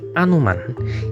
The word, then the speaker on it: Hanuman: penulisan Sansekerta aslinya ditulis Hanuman begini dalam pengucapan sini bunyi ha itu seringkali pengucapannya tipis menjadi anuman karena itu bisa juga